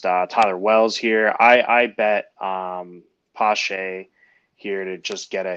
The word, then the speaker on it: Pache: I don't know how to say it, Pache. but Pache.